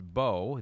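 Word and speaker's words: Mbow: Marcus Marcus Bo. It is spelled Mbo, but it is pronounced Bo. The M is silent.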